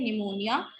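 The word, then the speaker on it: pneumonia: सो फॉर यहाँ पे जैसे पी साइलेंट है, निमोनिया, न्यूमैटिक.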